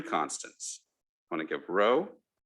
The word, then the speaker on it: rho: i want to give row that's pronounced i mean this is uh row greek letter rho um theta and a